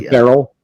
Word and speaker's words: ferrule: It's spelled F-E-R-R-E-L. It's a ferrule. Ferrule? Okay. I don't know if I didn't know if it was ferrule or feral or I don't know.